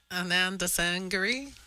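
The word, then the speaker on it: Anandasangaree: Ottawa Gary say his name again for me Ananda sangary yes Yesa sangary yes I've been trying and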